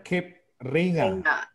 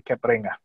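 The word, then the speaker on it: Cape Reinga: Nah ini di flight namanya Cape Ringa. Ringa, ngomong bacanya Ringa atau Ringa?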